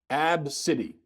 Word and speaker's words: ABCDE: ABCDE that's what she names her daughter it's pronounced AB City AB city ab city I think abs abs